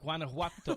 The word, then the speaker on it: Guanajuato: Guanajuato. So that you say a hard G in the beginning? No, just think about Guanajuato.